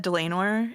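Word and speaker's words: Dlanor: It's said Delanor in Delanor. Yeah. So like lame because she's lame.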